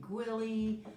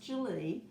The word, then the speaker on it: Gwili: of people call me gwilly i've been called a lot of different things my grandkids call me so that's okay too but it's pronounced julie but i answer to